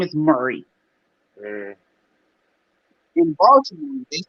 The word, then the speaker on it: Baltimore: They don't say Baltimore. They don't pronounce. Ain't no T. It's like a D up in that joint. Baltimore.